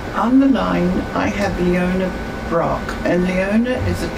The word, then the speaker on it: Leona: It's Leona, it rhymes with Madonna.